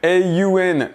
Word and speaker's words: Aun: on est au-dessus du Aun C80. C'est comme ça qu'on se prononce qu'on le prononce. Ça s'écrit Aun, le nom de la marque, qui est un projecteur